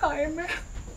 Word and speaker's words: Jaime: O J em seu primeiro nome é pronunciado como H ... H-aime ....